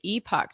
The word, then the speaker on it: Epoch: times guys i love i guess it's pronounced the epoch times just depends if you uh pronounce it in a canadian way or american way so either way is correct okay awesome well you